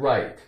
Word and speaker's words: right: sigh here's the word right r i g HT right right GH is silent r i right right okay so what's